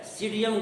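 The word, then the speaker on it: Psidium: वैज्ञानिक नाम होता है सीडियम गुआजा। देखिए बोटेनिकल नेम, इसका बोटेनिकल नाम आप लोग नोट कर लीजिए। सीडियम भी साइलेंट होता है इसमें, सीडियम गुआजा, ये इसका वैज्ञानिक नाम होता है।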